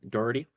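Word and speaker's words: Dougherty: Turner Mitchell worth and is that Dory um County that's what we decided it's pronounced as Doherty County I said this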